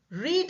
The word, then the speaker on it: read: Read is a difficult verb because the same spelling is for the past also but it is pronounced as read. I read many books when I was a student. Past. Now I'm not a student. So that is past. I read. Re a d pronounced as r e d.